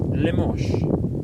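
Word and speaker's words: Limoges: Limosh. How does that How does that spell lemos? I'm sorry. How does that spell limo? Limiges. Limosh. Really? Lamos?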